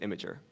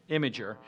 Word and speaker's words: Imgur: to be and uh it is pronounced imager imager and the reason you